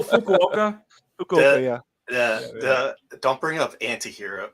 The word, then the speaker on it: Fukuoka: a a native per if an English speaking person looked at they probably pronounce it fuoka oh Fukuoka yeah don't bring up